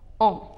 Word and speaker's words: en: With the city, we use a, and with the country, we use en, which is pronounced as on.